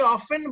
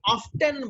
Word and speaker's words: often: তো এই ক্ষেত্রে অনেকেই অফেন বলে, যেটা ব্রিটিশ, অনেকে অফটেন বলে, সেটা অস্ট্রেলিয়ান, এবং এটা আমেরিকানরাও অফটেন দুটোর মাঝখানে থাকে, এটা সমস্যা না।